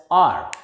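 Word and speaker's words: hour: a verbal sound next h o u r s is silent here and it is pronounced as r one r and we can say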